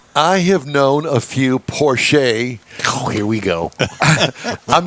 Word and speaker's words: Porsche: I met him said Porche Porche Porche it's Austrian and that's how they pronounce that final e it's sort of like